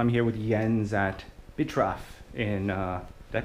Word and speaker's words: Bitraf: So I'm here with Jens at Bitraf in, did I pronounce that right?